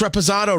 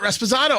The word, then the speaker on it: Reposado: Jeff who once said Tony why do you pronounce Reposado wrong I I used to pronounce it respizzano I I did that